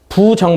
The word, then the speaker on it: 부정: 실제로 아니 불자 한데 아니 불 짜는 뒤에 오는 수가 디그 시나 짓으로 시작을 하면 부로 발음을 한다 그래서 막 불가하다 마 불능이 다 이런 말을 할 때는 부리지만 이때는 그냥 부가 되는 거지 그러면 정 방정식이 뭐인지